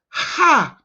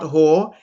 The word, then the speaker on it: har: It's not Hor, it's Ha, H-A-R. Ha.